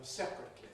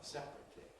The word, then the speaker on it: separate: We keep them separately from one another. Separately separate. We can compress there but we couldn't say separate instead of separate.